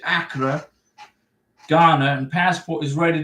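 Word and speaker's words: Accra: in Acra congratulations and now it's AKA right that's how you pronounce it ACA Ghana and passport is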